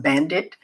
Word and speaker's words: BVNDIT: Now, even though they're pronounced Bandit, they are stylized as B VN Dit T.